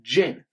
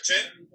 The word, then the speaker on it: Jin: The first one we'll get into, his name is Jin. So, you know, it's like the alcoholic drink. That's how you pronounce it, Jin.